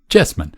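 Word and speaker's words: Cheesman: Chessman. Chessman. Se escribe Cheeseman. Hombre queso. Vamos. Además que suena mucho mejor.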